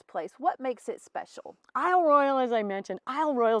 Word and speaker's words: Isle Royale: I love Royale and if we were honoring the way the French would say it would be eel Royale but it's definitely been